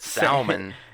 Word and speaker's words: salmon: The L is silent.